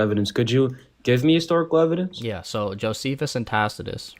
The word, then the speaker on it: Tacitus: Tacitus Yeah, just you can just say Tacitus.